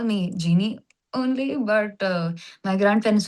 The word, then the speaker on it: Gini: The name Genie, is it a short form for your original name? Um and and even though you write G I N I, you pronounce it as G E N I E.